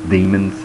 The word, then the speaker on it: Daemons: It's Demons, spelled with an A.